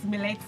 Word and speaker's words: Melet: Okay, it's Melet. Some call it Melet.